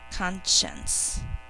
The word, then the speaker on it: conscience: in two syllables the first syllable is second syllable and I might need extra fingers so there we go Shh conscience so here's how we'll mark that you can